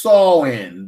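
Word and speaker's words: Samhain: Celtics festival of the San Sam Han are pronounced saw in the Celtics who live 2,000 years ago in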